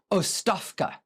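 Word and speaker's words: оставка: I do not speak Bulgarian, but I think the pronunciation is ostavka.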